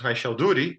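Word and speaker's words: Raychaudhuri: I understand that this equation was discovered independently by Landau, and I was told this name is pronounced Raishalduri.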